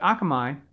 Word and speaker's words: Akamai: um how to pronounce that i used to pronounce it all kind of ways but akamai i've blanked out most of the chart so